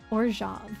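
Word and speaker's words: Orzhov: still the only ones that I know that pronounce it that way but doesn't it sound so much better orj versus orav like orav sounds like some kind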